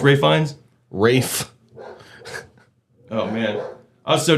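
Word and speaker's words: Ralph: pronounce it? Ray Fiennes, yeah. It's Ray Fiennes. Rafe.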